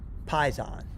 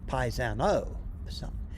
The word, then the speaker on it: paisan: Doug, it's pronounced Paisan. Okay, Paisano. And it's a term of endearment for a fellow Italian.